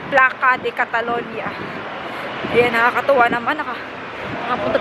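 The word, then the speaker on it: Plaça de Catalunya: Nasa plaza pero pag-pronounce dito is placa de Catalonia.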